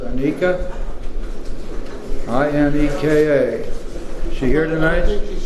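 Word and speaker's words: Ineka: Now we have a lady celebrating 7 years of continuous sobriety, and I believe her name is pronounced Anika.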